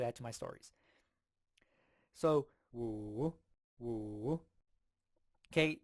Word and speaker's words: 五: 五 So it's like woo, woo. So to me, I kind of hear like a wolf, wolf.